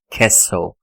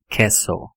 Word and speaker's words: castle: A pronúncia correta é Castlevania. Então, você percebe aqui pela transcrição fonética que a pronúncia dessa palavra é castle. O T não tem som. Castle.